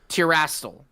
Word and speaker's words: Terastal: Terastal.